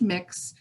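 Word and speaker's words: Mx: ms but that is gender neutral it is pronounced mix um and um and i have um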